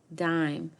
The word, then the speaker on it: dime: It has a silent E at the end that makes the I before it say its name, like in the word dime. Listen to hear the letter name I.